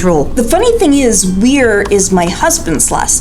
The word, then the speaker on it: Weir: They either try to spell it I-E or try to pronounce it wire. I before E except after C is only a sometimes rule. The funny thing is, Weir is my husband's last name.